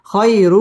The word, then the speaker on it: خير: পুর হবে ওয়ালাল আখিরাতু খই জবরের বাম পাশে জজম ওয়ালা ইয়া লিনের হরফ তাড়াতাড়ি পড়তে হবে খয়রু র পুর হবে রুল্লা এটা হচ্ছে ইদগামে